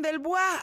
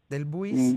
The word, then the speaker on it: Delbouis: Pedro Joaquín del Bois, alcalde, lo pronuncié bien, ¿no? Es en francés, es un apellido de origen francés, del Bois, o ¿cómo lo pronuncias tú? Del Buis.